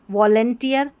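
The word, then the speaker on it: volunteer: ठीक है one tier वंटियर वैसे इसका उच्चारण है वंटियर व ये वी ओ है ना इसको व नहीं पढ़ना है ठीक है व पढ़ना है ओ का उच्चारण अ करके आ रहा है वंटियर वंटियर वंटियर स्वयंसेवक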